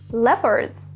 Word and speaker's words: leopard: Now, a few wild animals are leopards. Note the pronunciation.